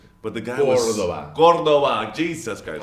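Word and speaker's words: Córdoba: it's from Cordoba. But the guy Cordoba. was Cordoba. Jesus Christ. Accent on the O.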